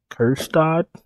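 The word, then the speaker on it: Kjerstad: Kerstad, that's how you say his name, at 3,600.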